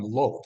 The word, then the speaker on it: Lot: In Genesis chapter 14, Lot requires, I guess we're really supposed to call him Lot, aren't we? But Lot, yeah. Just Hebrew pronunciation, right? It's a long O.